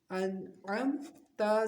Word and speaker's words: انعمت: عین میم زبر عم، انعم، تا زبر تا، انعمتا۔ حالت وقف انعمت، تا کو موٹا نہیں کرنا، یہ دھیان رکھنا ہے، انعمت، انعمت، ٹھیک ہے؟